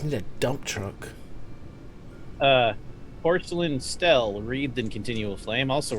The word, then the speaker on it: stele: Stella! The art people say Stella, therefore it is.